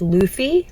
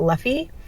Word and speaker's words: Luffy: Number 2, I've learned that it's Luffy, not Luffy.